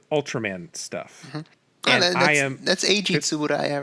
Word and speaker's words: Tsuburaya: And this is by another thing I'm going to mispronounce, Suburaya Productions. Suburaya, yeah. Who is known for their Ultraman stuff. And that's Eiji Tsuburaya, right?